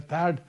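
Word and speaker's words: THAAD: थार्ड TA double AD जो थर्ड missile systems है थड दोनों प्रोनाउंस करते हैं।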